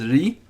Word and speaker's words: リー: All right, we have a conversation between Hayashi and probably it's supposed to be Lee, but it's pronounced Ri.